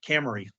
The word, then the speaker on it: Camarie: I want to say it right, Camarie. Just think of the car.